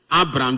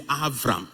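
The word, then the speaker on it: אַבְרָם: So instead of saying Abram, the way we will say it, if you are to read it in Hebrew, you will say Avram.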